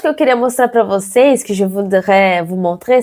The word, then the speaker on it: você: Quand il y a un accent circonflexe en portugais, on va fermer la voyelle. C'est comme si on fermait. On dit ici, você. C'est notre E. Você. En français, je dirais que c'est le même son d'accent aigu dans le mot café. Mais en portugais, c'est l'accent circonflexe, c'est un peu plus fermé. Você.